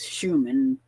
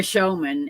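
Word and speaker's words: Shoeman: is that that I posted a couple of weeks ago by a man named Roy Showman. It looks like it says Schuman, but it's pronounced showman.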